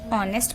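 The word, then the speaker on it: honest: नेक्स्ट वन is dash ऑनेस्ट person. अब आप देखिए इसमें भी हमारा एच साइलेंट होता है, इसे हम कैसे पढ़ते हैं? ऑनेस्ट।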